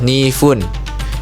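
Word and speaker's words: 二分: Menitnya pakai fun bukan pun ya, tapi fun. Jadi ketika untuk menyebutkan angka yang bukan istimewa, bukan angka istimewa dia menitnya pakainya kata fun bukan pun ya fun aja fu dan n. Jadi 2 menit bahasa Jepangnya adalah ni fun.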